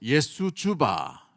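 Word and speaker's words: Jesu Juva: 올려요 JJ 이게 뭐냐면 예수 주바라는 뜻을 가지고 있어요 예수주바 쭈쭈바가 아니고 예수 주바이라 했는데 예수여 도우소서라는 단어를 씁니다이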